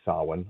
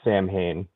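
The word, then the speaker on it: Samhain: do every year uh during sin, otherwise known as Halloween. Uh not Sam Hayne to all of you who are pronounce it uh as everyone else does.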